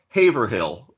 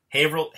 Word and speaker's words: Haverhill: So I used to say Haverhill, and John, our friend John McElveen, told me that was wrong. Yep. So what is the correct pronunciation? Haverhill, Massachusetts.